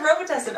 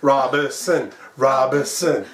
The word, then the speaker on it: Robison: Shit, I almost said Robitussin. Okay. Robison. Yeah.